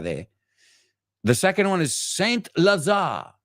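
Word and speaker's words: Saint-Lazare: the second one is Saint Lazar Saint Lazar Lazada I think the E is silent and that's a hyphenated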